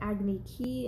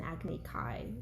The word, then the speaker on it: Agni Kai: of one-on-one fight, which they call an Agni Ki in the movie. And in the show it's an Agni Kai. Small pronunciation adjustment, but yes, he does get challenged to a duel.